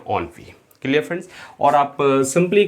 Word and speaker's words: ennui: Friends next word है हमारे पास ENNUI, और इसका प्रोनाउंसिएशन होता है फ्रेंड्स ऑनवी।